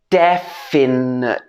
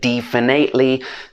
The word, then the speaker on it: definitely: be pronounced more precisely definitely i've heard a lot of different pronunciations for this word such as definitely definately none of these are correct it should be de at the beginning de finn definitely or